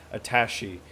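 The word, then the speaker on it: attaché: Somebody corrected how to pronounce it. Attache.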